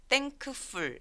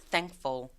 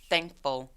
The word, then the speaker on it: thankful: thankful 아니고 중간에 있는 K가 사라져서 thankful, thankful 해서 K 삭제.